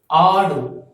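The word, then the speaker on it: ஆடு: You have to pronounce this as adu. Adu. A-A-D-U. So double A.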